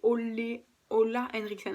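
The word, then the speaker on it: Ole Henriksen: les trois produits voilà ses olé ola henriksson apparemment ça se prononcer voilà ce sont des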